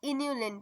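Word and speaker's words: inulin: अब आते हैं इन्यूलिन पे। इन्यूलिन है ये, इंसुलिन नहीं है।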